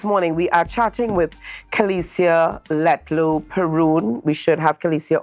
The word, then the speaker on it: Kelicia: It's Kelicia. Kelicia. Okay, Kelicia. All right, not Kelicia.